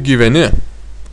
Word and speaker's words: gyveni: Kaip gyveni? Kaip gyveni? Kaip gyveni? Kaip gyveni? Ударение в конце. Gyveni.